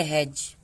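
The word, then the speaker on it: hedge: इसे बहुत से लोग हेड्ज पढ़ेंगे, लेकिन इसको हम पढ़ेंगे हेज। ये है वेज।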